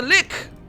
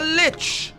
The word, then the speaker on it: lich: That's a lick. A lich. A lich. Depending on how you want to pronounce it.